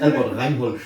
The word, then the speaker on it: Albert Reinhold: It's Albert Reinhold.